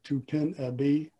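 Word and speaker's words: Topinabee: Most people pronounce it Tupinabee, T-O-P-I-N-A-B-E-E. Well, I asked one of my language instructors how he would pronounce it, and he said it would probably be Tapanabe.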